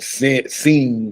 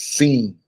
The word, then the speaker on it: sin: And sin is spelled S-I-N. So most people, when they see it, they'll say sin. And there's a difference when you say sin versus seen.